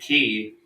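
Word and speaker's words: quay: Americans but they're two they're two totally different things though pronounce the same way K why is a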